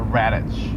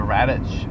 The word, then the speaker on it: Radch: which is called the Radich. That's how I pronounce it. Radch, I think is how she spelled it.